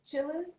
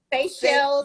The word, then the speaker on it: Seychelles: So Tomeeka told me yesterday that, is it Chili's? Seychelles. What is it? It's Seychelles.